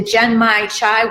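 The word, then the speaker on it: genmaicha: how to say it gem my cha gen like gem gem like again okay so gen gen my cha okay gen my top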